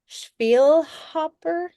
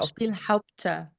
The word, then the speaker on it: Spielhaupter: So Spielhaupter? No, Spielhaupter. Haupter. Spielhaupter.